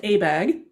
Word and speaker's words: ABAG: It's the San Francisco Bay Area's regional planning agency is called the Association of Bay Area Governments, and it's pronounced ABAG.